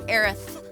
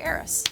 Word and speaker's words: Aerith: And I'm pretty sure Square Enix has officially declared Aerith as the official way to say it. But I grew up with the PlayStation one game where we had Aeris, so I say Aeris.